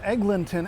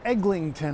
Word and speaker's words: Eglinton: city where half the people in town believe that Eglinton Avenue one of the main streets in the city is actually Eglinton Avenue somehow there's an extra G that they just imagine probably because of Islington Avenue which